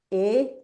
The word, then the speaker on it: et: Esta palabra e así e t que se pronuncia e es la conjunción I.